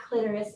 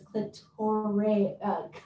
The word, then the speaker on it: Clitoria: It is not clitoris, it is clitoria.